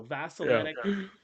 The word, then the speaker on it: Vasel: with the proper pronunciation so vasel is the proper pronunciation and again if I